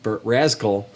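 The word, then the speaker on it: Razkull: So it's like skull, but with a Z.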